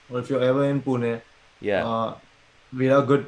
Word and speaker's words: Pune: location you're at you said how do you pronounce it and where is that actually in india i mean uh pune is uh you must be knowing about mumbai